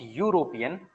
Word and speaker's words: European: कैन पुट, बट यूरोपियन, when you pronounce यूरोपियन it's not e, it's u, yeah, word y, यूरोपियन,